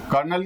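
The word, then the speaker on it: colonel: इसके बाद lieutenant कर्नल कर्नल की स्पेलिंग बताओ सीओ एल ओ एन L left कनल ठीक है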